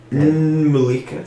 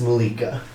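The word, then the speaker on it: N'Mulika: l i k a Malika so that the the first word is always a first letter is always silent you never pronounce that but that's what tribe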